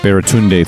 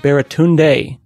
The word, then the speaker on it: Baratunde: Baratunde does not seem like that hard of a name. It isn't. Four syllables. It's simpler than encyclopedia.